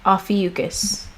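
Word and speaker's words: Ophiuchus: E u because that's how you say it afiucus alrighty Alpha yukis the serpent Bearer or Snake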